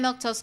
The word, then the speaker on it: Milquetoast: I'm Milktose. That's how you say my name.